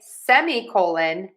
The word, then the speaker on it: semicolon: So you can say semicolon, semicolon or semicolon. I hear all of them. I'm going to teach you today a semicolon. Semicolon, semicolon, semicolon. The key here is stress syllable number one.